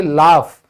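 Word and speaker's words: laugh: तो फिर एफ की साउंड भी निकलती है कई बार, तो उच्चारण हम सीख रहे हैं तो ढंग से सीख ले। अगर आप देखोगे लाफ, तो यहां पे जी की साउंड है ही नहीं, ठीक है।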